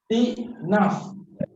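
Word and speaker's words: استئناف: Istinaf. Istinaf. Sebutannya istinaf. Tak ulang lagi. Istinaf. Istiqnaf.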